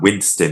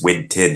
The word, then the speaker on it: Winton: See, it's not Winston. It's Winton.